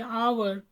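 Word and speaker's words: hour: अब देखें यहाँ पे, एक तो कुछ लोग कहते हैं एच साइलेंट है, और यकीनन साइलेंट होगा, और इसकी अगर हम आवाज़ को देखें तो ये अलिफ से बनती है, आवर, आ साउंड है, इसीलिए हमने इसके साथ एन आवर लगाया है।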